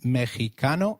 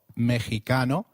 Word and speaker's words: Mexicano: Did you notice that the X in Mexicano is pronounced as H? While X is usually pronounced as X inflexible, it is pronounced as a throaty H in the words Mexico, Mexicano, and Oaxaca, which is a state in Mexico. So, can you try saying Mexicano? It is called Mexicano. The other thing that you